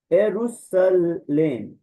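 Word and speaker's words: Ἰερουσαλήμ: गॉड को उसके बाद एरूसलेम एरुसलेम ठीक है एरुसलेम एरुसलेम तो यहां पे अयोटा को इ्सिलोन को दोनों की साउंड को अलग-अलग हम प्रोनाउंस करेंगे क्योंकि यह दथोंग नहीं है तो एरिसोम सॉरी एुसले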